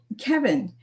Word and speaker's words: Cevin: Let me get Servant in here. Let's spill some tea. Welcome, Servant. It's uh pronounced Kevin but uh yeah, thanks Oh, Kevin.